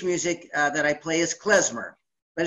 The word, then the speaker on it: klezmer: but the tool of the music and the pronunciation is klezmer so alright I'll play you a melody we'll